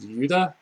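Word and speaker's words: Iuda: And their leader is named, I guess in Russian it's like called Yuda. It's spelled I-U-D-A, which is Russian for Judas, and I guess that's him on the cover.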